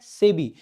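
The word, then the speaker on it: SEBI: नहीं बताएंगे एक बार सेबी की स्थापना कब करेगी थी भाई ठीक है तो इसको भाई इंडिपेंडेंट प्रोनाउंस नहीं करते इसको हम से भी पढ़ते हैं क्या पढ़ते हैं सेबी नाबार्ड ये जो ऐसी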